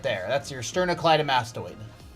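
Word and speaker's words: sternocleidomastoid: That's your sternoccllyam mastoid. It's a big word. 1 2 3 4 5 six syllables. Sternoclly mastoid.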